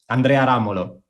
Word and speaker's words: Andrea Ramolo: folk music award but her name is italian and i will pronounce it with the italian pronunciation so it's really a